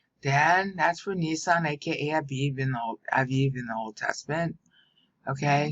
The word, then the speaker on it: Av: Av means father, haha. AB is the spelling, but you pronounce the B softly.